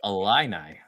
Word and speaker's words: Illini: when he tried to pronounce Illini. Oh, it was fantastic. The Illini. Illini. Illini. Illini. I went Illini. Who knew that an I makes an A sound?